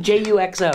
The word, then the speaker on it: Juxo: Jutso. Jutso? Yeah. Okay, is that spelled like jet ski? No, almost? J-U-X-O, Juxo.